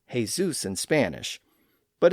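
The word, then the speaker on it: Jesús: In Spain, that sound had evolved into an h sound or a sound. That's why the name that looks like Jesus in English is actually pronounced as Jesus in Spanish, but it's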